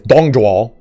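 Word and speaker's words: 董卓: Like, when people see Dong Zhuo, it's Dong Zhuo.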